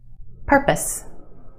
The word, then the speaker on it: purpose: And one more, P-O-S-E, pose, pose. But put it in this word and it becomes pus, pus. Purpose, purpose.